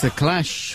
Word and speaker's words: The Clash: That's the Clash with Rock the Casbah, of course.